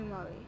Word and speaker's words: Murray: And how do you pronounce? Andy Murray or Murray? Andy Murray.